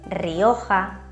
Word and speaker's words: Rioja: La R en español tiene dos sonidos distintos. Uno fuerte al inicio de una palabra y cuando es doble, por ejemplo, reserva, roble, Rioja, barrica, y otro débil en todos